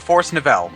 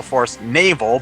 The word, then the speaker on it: Forest Navel: In this part, we're going to go to the Forest Nav-L. Yes, I know it's supposed to be pronounced the Forest Navel, but I've always called it the Forest Nav-L, so that's what I'm going to continue.